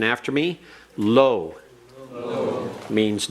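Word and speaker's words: לא: If you'll repeat the pronunciation after me, lo.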